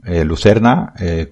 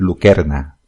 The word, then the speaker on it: lucerna: Lucerna, como supongo que muchos sabréis, lo digo así, pero realmente tiene que decir lucerna, que es como se pronunciaría en latín. No existe el sonido de C delante de la E, siempre sería K.